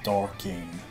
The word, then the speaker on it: Darkane: Darkane is a combination of two English words, dark and arcane, so it's pronounced Darkane. Tungsten, heavy rock.